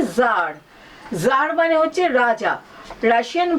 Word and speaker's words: Tsar: এই গল্পে একজন জার, হ্যাঁ, এই TSAR, এই কথাটার উচ্চারণ হচ্ছে জার।